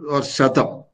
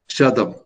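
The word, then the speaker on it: शतम्: Satam is the or Shatam, as it is pronounced in Sanskrit. Okay, Shatam.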